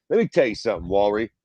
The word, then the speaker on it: Warley: Let me tell you something, Walry. How you pronounce that motherfucker's first name? Warley Alves, yeah. Warley.